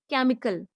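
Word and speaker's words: chemical: सी H double E R chair C एच ई एम आई सी ए एल केमिकल। अब केमिकल में सी एच क का sound कर रहा है।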